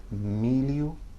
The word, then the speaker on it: milho: You can hear the pronunciation there, milho, Julio. You can probably imitate that, but think of it that it sounds like the double L-I in the English word million.